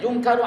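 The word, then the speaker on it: ينكر: Yakni fi sinil lati yunkiru alaihi fiha law kana qad ata munkaron yufsidu alal musallina salatahum. Artinya di usia ya di mana yungkaru ya bacanya yungkaru alaihi, di mana pada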